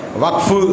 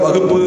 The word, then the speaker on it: வக்ஃபு: அரசியல் களத்தில் இருக்கிறவங்க வக்ஃபு அப்படிங்கிறத வகுப்பு அப்படின்னு உச்சரிக்க கூடாது. வகுப்பு சட்டம், வகுப்பு திருத்த சட்டம், வக்ஃபு WAQF இங்கிலீஷ்ல. அதை மலையாளத்துக்காரங்க வக்கஃப் அப்படின்றாங்க. நாம வக்ஃபுன்றோம். வா இக் ஃபு, அவ்வளவுதான்.